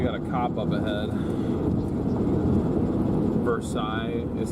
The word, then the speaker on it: Versailles: Versailles is how it's pronounced.